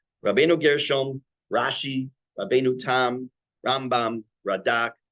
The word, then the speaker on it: Rambam: Rambam more, is the Rambam, we say Rambam with the accent on the first syllable, which is Mil'el, and Ramban and Milra, we put the accent on the second symbol.